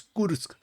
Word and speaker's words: Kursk: So the proper pronunciation is Kursk.